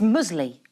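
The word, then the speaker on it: muesli: to say is contentious you it I say musley musley what meron mle no it's musley musley musley you're the only one saying it I've got a friend in the audience who says muley well I used to know somebody who pronounced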